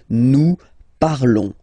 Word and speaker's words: parlons: Remember, final S is not pronounced, okay? And then this on together, they will give you the sound on, okay? Nous parlons, all right?